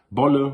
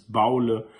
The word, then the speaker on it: Bolle: Ende gesprochen worden Recht das gibt's von dort zu Dorf in anderen Aussprachen manchmal heißt es Bolle manchmal heißt es Baule was weißes Boule und